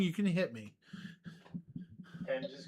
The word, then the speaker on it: Thames: If I'm getting the name wrong, you can hit me. Thames is correct.